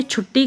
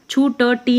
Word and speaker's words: छुट्टी: इसका उच्चारण होगा मिट्टी इसी प्रकार से छुट्टी का भी छुट्टी नहीं होगा इसका होगा छुट्टी इसी प्रकार से जिद्दी